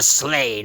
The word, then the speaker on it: sleigh: once a month and that's a sleigh not a sled rhymes with slay if that helps CK your comic books